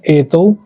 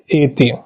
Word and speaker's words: एतौ: एतौ बहुवचन में एति ध्यान रखिएगा यहां पे कई लोग ऐष अतौते ऐसा उच्चारण करते हैं जो कि अशुद्ध है। ठीक है? तो आपको क्या उच्चारण करना है? प्रथमा में ऐसे करना है एतौ एते द्वितीया विभक्ति में एतम